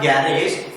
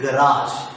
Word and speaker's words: garage: Yes, usually what happens, we pronounce this word as a garage. It's not garage, it is garage.